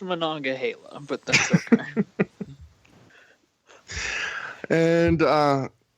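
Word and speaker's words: Monongahela: that live in the steel city but it's pronounced mananga Hala but that's okay and uh yeah um it's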